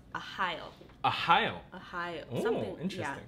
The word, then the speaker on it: Arraial: So this is actually a Portuguese name, and it's pronounced Arraial.